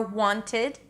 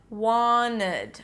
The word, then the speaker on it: wanted: A T after an N in an unstressed syllable is often eliminated, as in 20, or wanted, or internet. Do you hear it? I'm not saying internet or wanted, but wanted. I'm moving from the N to the rest of the word, skipping the T.